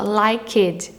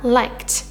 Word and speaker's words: liked: O pessoal fala liked, né? O pessoal fala o E. Mas uma regra de pronúncia no inglês é que você não vai falar o E do ED, tá?